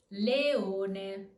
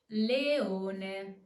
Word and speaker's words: leone: We have two strong vowels, E and O. Remember, two different vowels, two different voice emissions. Leone. Leone.